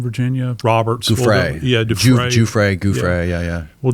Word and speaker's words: Giuffre: And I think that even If there's so many of them, yeah, where Dufresne actually, is that how you pronounce her name? Virginia Roberts? Giuffre.